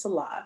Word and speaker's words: Nselaa: or pronounce my name they say insulin but it's salah so thank you for